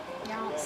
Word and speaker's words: Yonce: Yonts.